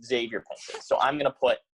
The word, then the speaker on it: Xavier Pinson: put another tricky name, Xavier Pinson. A lot of people see the Xavier and they think it's pronounced Xavier Pinson.